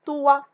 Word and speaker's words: toit: Le toit. Quelle est la lettre muette que je ne prononce pas ici? C'est la lettre T.